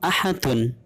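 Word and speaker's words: أحد: Kemudian contoh dari qalqalah kubra yaitu ahadun. Cara membacanya ahad. Jadi sukunnya tidak asli, akan tetapi karena diberhentikan atau diwakafkan. Ahadun dibaca ahad.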